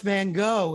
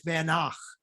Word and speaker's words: Van Gogh: wow very good because it's not pronounced Van Gogh it's vanak there you go uh